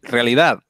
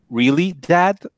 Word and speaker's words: realidad: Apparently, people were having trouble pronouncing realidad, which means in Spanish it means reality. Obviously, for us Spanish speakers, I suppose it's great, realidad. But for other people, we're reading a really dad.